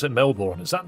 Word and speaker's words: Melbourne: I'm sorry, but if you have a B-O-U-R-N in the name, it's pronounced born in the UK.